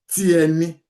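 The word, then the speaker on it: tiẹni: So normally, I say again, you don't pronounce this R in the middle. So you normally will say tieni.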